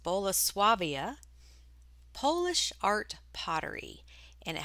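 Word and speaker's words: Bolesławiec: just under eight months and the brand is pronounced boloswavia polish art pottery and it has a very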